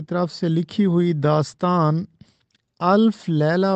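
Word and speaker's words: الف لیلہ: یہ استعمال ہوتا ہے۔ اس کے بعد ہے الف لیلا، یہ غلط تلفظ ہے، املا بھی اس کا غلط ہے۔ الف لیلا نہیں ہوتا بلکہ یہ ہوتا ہے الف لیلا۔ الف لیلا و لیلا،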